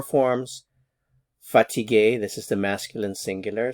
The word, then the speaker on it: fatiguée: The pronunciation is the same, fatigué, fatigué. However, for the feminine singular, I have to add an e to indicate the feminine singular form.